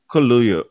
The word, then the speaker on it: Kaluuya: se, but Daniel Ayalo, is that how you pronounce his name? Kaluuya. Yellow? Mhm. Kaluuya? Kaluuya.